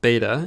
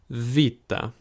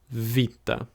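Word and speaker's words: βήτα: looks like a B we call it beta in English but it's Vita again Vita and it's pronounced more like the V in the word very here's your gum your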